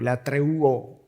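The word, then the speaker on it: λατρεύω: Cuando Pablo dice ahí a Dios a quien sirvo, la palabra que es usada en el original, que es la treuo, o la treuo, sería la pronunciación en español, donde viene la palabra latria, y ahí viene la palabra idolatría.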